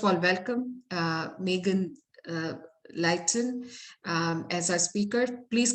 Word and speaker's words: Leighton: um first of all welcome uh megan uh leighton um as our speaker please correct me if i'm not pronouncing your last name properly megan you said